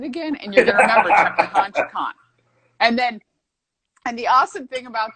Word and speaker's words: Chukan: So when you're trying to figure out how the hell to say my name, all you got to do is think Chukan, remove the extra ka, Chukan.